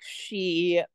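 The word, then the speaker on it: Sidhe: and it was called the Mystic She, and it was spelled, you know, S-I-D-H-E. It was spelled like the Celtic way.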